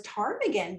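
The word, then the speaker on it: ptarmigan: new settlement uh was tarmaggan because of all these tarmaggan. But if you know the word tarmaggan and you know it has a silent p at the at the beginning of the word.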